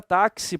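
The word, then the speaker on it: táxi: o dia fino difuso nada mais é do que o x com som de KS tá na palavra taxi por exemplo a gente escreve assim esse x mas a representação fonética deles seria isso aqui ó tá aí eu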